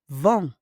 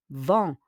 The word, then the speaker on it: vend: Le boucher vend. On prononce pas le D, hein?